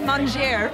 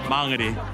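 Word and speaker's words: Māngere: nice oh yeah i pronounce it why google maps lady she says monger manganese no i don't say mango ever mangeri i was supposed to be friends i guess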